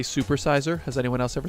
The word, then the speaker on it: SuperSeizer: SuperSeizer. Whenever I meet someone new or in a stream or something, when they say that, I'm like, oh, it's pronounced that ruler that got stabbed 28 times, Julius Caesar.